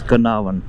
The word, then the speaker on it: Carnarvon: it like Karan it's canavan I think R is silent anyway so what I